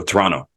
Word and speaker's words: Toronto: You know, even where I'm from, Toronto, nobody pronounces it Toronto. They go Toronto. It's just a shorter name.